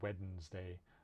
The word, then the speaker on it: Wednesday: There's some weird things, but the main thing is it's kind of that first D in Wednesday usually isn't pronounced. I have known a few people who say Wednesday, but usually it's Wednesday, right?